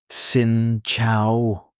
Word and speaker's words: xin chào: But a simple and safe one is uh xin chào. Pronounced sin chow. Say it slowly. Xin chào. Again. Shin chao.